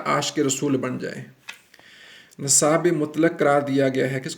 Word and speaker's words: مطلق: ہوئے ہیں وہ ہے مطلق، تو ہم اعراب لگا رہے ہیں، دیکھیں کیسے۔ مطلق، میم پیش تو یہ مت، یہ